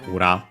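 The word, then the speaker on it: 裏: Ura on its own, nowadays accent on the last mora, ura.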